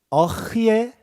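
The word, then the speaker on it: אֶהְיֶה: 히브리어는 그래서 어흐예, 저희가 어흐예라고 읽는 거예요.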